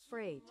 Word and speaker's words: freight: Freight. See? It's freight. Oh. Yeah, it's freight. Freight. Not fried.